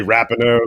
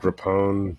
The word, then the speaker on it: Rapinoe: I would say Rapinoe. Looks like Rapone.